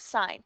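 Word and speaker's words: sine: to angle B so our first one is sign that's how we pronounce that is sign on your calculator we'll get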